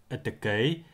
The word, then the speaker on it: ytykyi: The vowel E is also needed to spell words like etekei and beira, where the letter I is necessary to spell the Y sound.